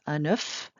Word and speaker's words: un œuf: If it's a single egg, you pronounce the F. Un œuf, but plural, you do not pronounce the F.